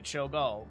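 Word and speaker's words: Cho'gall: Choal.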